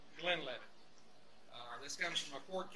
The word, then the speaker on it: Glenlivet: Now, the Glenlivet, it is pronounced the Glenlivet.